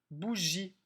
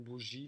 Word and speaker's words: bougie: Bougie. Dans bougie, il y a un G doux qui fait J devant le I. Il y a un E muet à la fin qu'on n'entend pas.